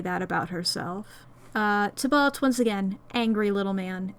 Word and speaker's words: Tybalt: Tybalt differently, it's because the way that it's supposed to be pronounced is Tybalt, I believe. However, the version of Romeo and Juliet I rewatch the most is the Hungarian version, where they pronounce it Tybalt, and that fucks me up.